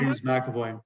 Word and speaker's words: James McAvoy: James McAvoy.